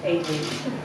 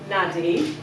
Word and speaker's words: Aideen: of you who don't know me it's still pronounced aen but my name name has been mangled more times than a P with an Irish STW I've been called nadie a a I do I look like something